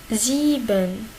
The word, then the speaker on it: sieben: Si on a ici EI à l'inverse. I, E. I, E. Il se prononce comme I. I. Une longue I.